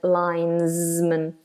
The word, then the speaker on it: linesman: they are called the linesman a linesman that s is like a zed lines man a linesman and the